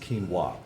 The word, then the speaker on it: quinoa: of white rice or mac quinoa Chris it's pronounced quinoa we're supposed to accept it as part of